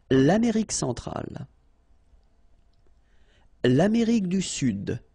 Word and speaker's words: sud: L'Amérique centrale, l'Amérique du Sud, here you should pronounce the D, sud, sud, okay?